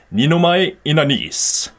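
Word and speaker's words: Ninomae Ina'nis: But he actually goes, Ninomai Inanis.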